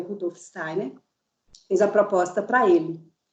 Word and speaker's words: Steiner: Ele é austríaco, mas como lá na região, vocês sabem, falam alemão, então a pronúncia é Steiner, Rudolf Steiner.